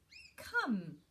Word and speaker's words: come: So it sounds like it should be spelled k-a-m, but it isn't. It's a bit like com-e. So it's a bit like love-e and com-e. Another silent e at the end.